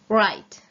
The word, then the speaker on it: write: read a magazine read write write if you realize you don't pronounce the W song just wit just